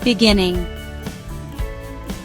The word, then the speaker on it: beginning: Next word, beginning. 3 syllables. Stress is on second syllable.